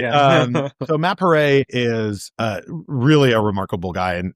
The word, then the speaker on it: Paré: So Matt, he tells people how to pronounce his last name by saying it's like hip hip hooray. Hip hip hooray. Right. Yeah. So Matt Paré is really a remarkable